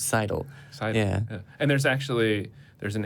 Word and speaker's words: Seidel: You do say it like Seidel, like you sidle up to the bar for a drink.